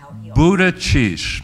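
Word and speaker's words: Buttigieg: it food is egg so how do you pronounce it Buddha sheesh okay even though he seems less a grouchy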